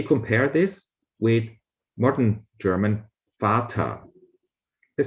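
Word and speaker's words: Vater: this with modern german fatah they sound pretty similar in german v is the same as f in some words the sound f is spelled with a v in others with f no logic behind it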